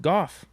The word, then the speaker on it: Gow: Gow. Glad I could catch y'all again. And last time, y'all got my last name wrong. It's pronounced Goff. Okay. And you pronounced it wrong again when you just said it, huh?